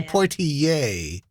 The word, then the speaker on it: Poitier: for you poi i'd actually say pointy yay not eh like the first black